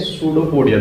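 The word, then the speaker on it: pseudopodia: हैं वो करते हैं सूडो पडिया द्वारा किसके द्वारा यहां पर प साइलेंट रहता है या जो यहां पर इस साइलेंट होता है सूडो पोडिया द्वारा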